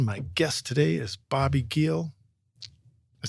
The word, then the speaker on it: Giel: I think the hard G throws people off. The J. But yeah, just it's German.